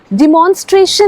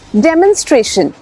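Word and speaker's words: demonstration: डेमोंस्ट्रेशन नहीं इट्स डेमोंस्ट्रेशन डी ई ए की sound आएगी यहां पे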